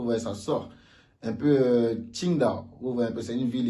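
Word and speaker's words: 青岛: Il n'est pas dit Qingdao avec le J, non, c'est différent. Le J c'est Ti, le Q c'est Qi, vous voyez, Beijing, Qingdao.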